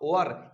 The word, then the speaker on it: were: यूज करेंगे, आर का वर। इसको बहुत सारे लोग बताते हैं कि इसको वेयर पढ़ते हैं, वेयर नहीं पढ़ते। इसका जो प्रोनाउंसिएशन होता है WERE, वर पढ़ते हैं। क्या बोलते हैं, वर बोलते हैं।